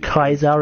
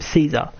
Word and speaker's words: Caesar: he knew kazar personally I pronounce it Kaiser out of respect for him unless I'm playing as an NCR character which as I told him Caesar but I take title